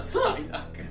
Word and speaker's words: Psyduck: Psyduck, la pronuncia giusta, Psyduck. Allora. Perché c'è appunto ai, che fa parte del culo.